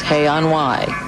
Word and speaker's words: Hay-on-Wye: The music Bridge on the River Kwai rhymes with Hay-on-Wye.